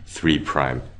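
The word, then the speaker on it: 3′: So again five apostrophe is is pronounced five prime and three apostrophe is pronounced three prime ends.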